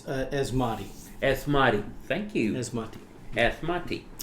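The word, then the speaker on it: Asmodee: this one r s yeah and for the pronounce the uh it's asmati asmati thank you asmati asmati uh there's an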